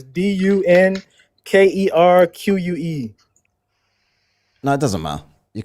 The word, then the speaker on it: Dunkerque: It's not spelled Dunkirk like Kirk. It's Dunkerque.